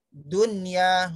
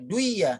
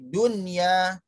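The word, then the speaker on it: دنيا: Sin wa nun, kin wa nun, kin wa nun, bun ya nun, dunya, nggak boleh duya, tapi dunya. Baik anak-anak kami, terima kasih untuk perhatian kalian.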